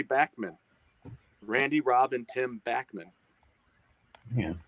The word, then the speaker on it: Bachman: like I was archiving what I called Bachman Turner overdrive for deck I know it's Backman it's back when I